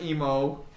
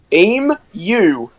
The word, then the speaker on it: emu: Emu. I guess it isn't like if you say it like emo. No. Emu. The E and the U is one part of the word. The U is separate.